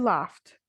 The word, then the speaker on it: laughed: sh, k, ch, then the ed will be pronounced as t. All right. For example, hope plus ed will be pronounced as hoped. Laugh plus ed, laughed.